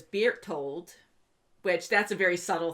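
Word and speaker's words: Bertolt: ji zoe and then burt holt is beer told which that's a very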